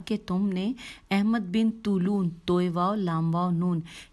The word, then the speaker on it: طولون: عنوان ہے احمد بن طولون۔ طولون کی ہجے کرتے ہیں توئے واو لام واو نون۔ لکھا ہے احمد بن